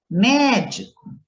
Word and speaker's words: médico: Por exemplo, médico, a sílaba mais forte é o mé.